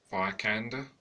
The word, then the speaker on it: Vikander: Now, obviously it's a reboot, and it's not Angelina Jolie, it's a younger actress, Alicia Vikander. I think that's the right pronunciation of that, obviously Lara Croft.